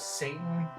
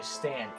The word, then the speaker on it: Stan: But I also remember thinking that the evil king's name was Satan, and now that I play it again, I find out that it's actually Stan. Even though I looked it up, and it's still Stan, never been Satan, but in my heart, it'll always be Satan.